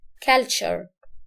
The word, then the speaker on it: culture: فنقول عليها ايه، ركز بقى في النطق ده، culture.